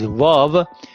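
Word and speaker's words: واو: But sometimes it has the function of a consonant, and that would be v, like vicar, like village, like very.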